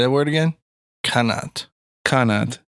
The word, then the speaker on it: qanat: It's Arabic in origin, meaning channel. Sweet. Oh, you could just call it a channel. No, it's a qanat now. Okay. How you spell it? K-N-A-T? Q. Qanot. Qanat. Q-A-N-A-T? Not Q-U-A. Nope. Qanat. Yeah, it's a good word to know for Scrabble. Yeah, dude. I love that word. It's like Janet.